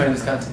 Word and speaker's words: Tony Visconti: What was it like working with producer Tony Visconti? Did I pronounce that correctly? Tony Visconti, Okay.